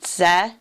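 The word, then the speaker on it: צדק: And how would we pronounce that? Same consonants, just only thing that's changed is the vowels. Would be Zedek.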